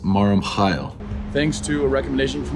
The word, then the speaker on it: Mar Mikhael: I'm heading over to Mar Mikhael. This is Mac from the future. It's actually pronounced Mar Mikhael.